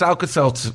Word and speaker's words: Alka-Seltzer: too well Plus again you you mispronounced alka-seltzer the first time the self is it's alka-seltzer Sal Cassano or whatever